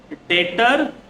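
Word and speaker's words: debtor: डेटर और creditor डेटर देखो यह लिखाते हैं डेप्टर लेकिन हम लोग इसको रीड करेंगे डेटर डेप्टर नहीं बोलेंगे डेप्टर नहीं होगा क्या होगा डी टी ओ आर लिखेंगे डेप्टर लेकिन प्रोनाउंस होगा डेप्टर बी साइलेंट याद रखना है बेइज्जती हो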